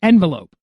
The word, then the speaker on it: envelope: in envelope there's an envelope is it envelope no it's not envelope so now one that's got